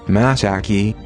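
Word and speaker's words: 真崎: the place named misaki was also written as misaki and pronounced masaki and it became very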